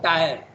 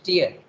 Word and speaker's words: tier: tier of seven planes very often in india we pronounce the word tyre okay but it's actually pronounced here jasmine read it correctly it is tear because when you travel